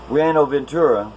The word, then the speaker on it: Buenaventura: all wickedness and the city streets blink I pronounce this city wrong the last time but it's Brianna Ventura it's Columbia's largest port city and it's notorious